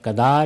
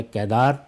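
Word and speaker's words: قیدار: کی اور کیدار کی۔ کیل یا کدار یا کیدار دونوں تلفظ رائج ہیں، تو یہ گویا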